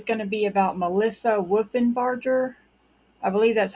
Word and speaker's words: Wolfenbarger: This is Kathleen, and today's video is going to be about Melissa Wolfenbarger. I believe that's how you pronounce the last name. It's Wolfenbarger, Wolfenbarger or Barker.